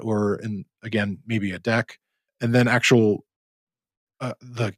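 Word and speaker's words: deque: there is another one called a deck which is spelled d-e-q-u-e and also something called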